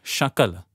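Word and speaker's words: शकल: happen uh you know dangers of pronouncing something uh wrongly uh sakala is everything shakala is a fragment H so there are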